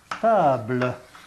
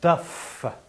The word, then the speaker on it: taf: Eh ben, j'ai un vieux mot, et il faut le prononcer correctement. Hein. Et on ne dit pas un tap, on ne dit pas un tab, on dit un. Un taf.